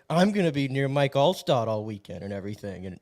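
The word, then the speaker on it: Mike Alstott: me she first of all she got his name wrong she's like Mike allcott do you know who that is and I said all yeah I'm like it's Mike allot I'm like I dressed up as him for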